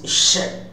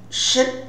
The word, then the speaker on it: should: two kinds of pronunciation the weak form is sh and the strong form is should should should when we stresses